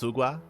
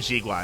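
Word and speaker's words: Xigua: And I should say it's actually pronounced Sugua. That's it. Yeah. I remember calling him Jigua, and she's like, "That's not how you say it."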